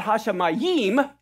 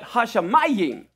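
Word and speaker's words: הַשָּׁמַיִם: Not Hashamayim, but Hashamayim. Okay, correct way to pronounce that.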